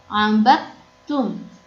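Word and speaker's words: عَبَدْتُّمْ: Maka dibacanya tidak memantul dan langsung ke huruf ta. Karena di sini ada tasydid. Jadi dibacanya bukan abadtum, bukan, tapi abadtum. Langsung ke ta. Dari ba langsung ke ta. Abadtum. Begitu ya, itu cara bacanya.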